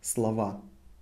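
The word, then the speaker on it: слова: always replaced with a Slava slow pronounced Slava however so written slovan pronounced Slava because o is not emphasized here so and now you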